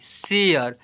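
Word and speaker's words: share: यहां पर ए का उच्चारण देखिए आठ नंबर में जब किसी वर्ड में ए के बाद आर इ आए तो ए को ए अ से पढ़ते हैं।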